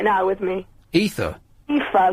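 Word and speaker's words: Aoife: friend is here right now with me ether ether like not the drug ether it's an Irish name spell it a o i f e like a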